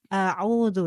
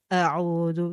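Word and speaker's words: أعوذ: eh dari e kalimat audu ya a a ini sifatnya adalah tipis ya kak ya Jadi untuk membacanya untuk pet membacanya adalah kalian membuka hurufnya a a Nah itu tipis bukan tebal kadang dengar pernah dengar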